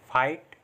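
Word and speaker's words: fight: Next rule है हमारा, जब आई के बाद जी एच टी आए तो भी आई को आई से पढ़ते हैं, और जी एच टी में जी एच साइलेंट रहता है। मतलब जब भी जी एच टी साथ में आ रहा है तो उसमें जी एच को हम पढ़ते नहीं हैं, जैसे फाइट, राइट, लाइट, नाइट, माइट।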